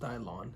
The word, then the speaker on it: Dillon: and Steve Dylan did I think it's pronounced Dylon it's the five best